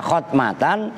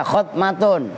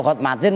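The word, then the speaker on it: ختمة: Cara bacanya boleh kalian baca khotmatan, boleh kalian baca khotmatun. Kalau khotmatin mah salah.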